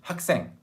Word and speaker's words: 학생: 학생, student, please repeat after me. 학생, 학생, 학생. 학 plus 생, but you put the two words together. Oh, so far away. 학생. It sounds like 학생, okay?